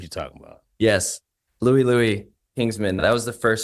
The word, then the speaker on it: Louie: The first song I learned on the drums was, how do you pronounce it? Liu.